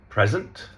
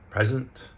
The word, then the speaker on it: present: And so, present, present, present. So the verb, we're emphasizing the last syllable. The other two, we're putting our stress on the first syllable, right?